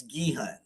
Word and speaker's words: Guehan: And how do you say that? Guhan Fractal Guitars. It's Guehan. Guehan Fractal Guitars.